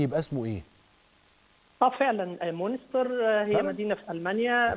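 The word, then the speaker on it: Münster: لأن أنا لما أجي أقراها عربي أو أقراها إنجليزي هنطقها مونستر، فأنا مش عارف النطق كده بالألماني يبقى اسمه إيه؟ اه فعلا مونستر هي فعلاً؟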